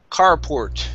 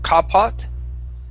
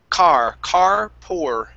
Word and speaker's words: carport: Let's go to the word carport instead of carport. Okay, give me a good R sound here. So this is carport.